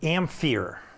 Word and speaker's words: ampere: back in the day who always used to pronounce it ampere like pH ampere and you you're going to